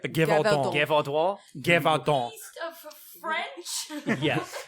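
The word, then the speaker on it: Gévaudan: Now we've got the Beast of Godavois. Did I say it right? Gevaudan.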